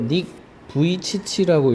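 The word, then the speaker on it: Nick Vujicic: 자, 이거 닉브치라고 읽어. 되게 특이하지? 스펠링이랑 발음이랑 잘 안 하닿는데 중요한 거는 요거 원래 림지야.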